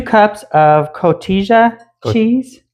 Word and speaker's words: Cotija: 2 cups of cotija cheese. Cotija. Okay. Yeah. J is silent.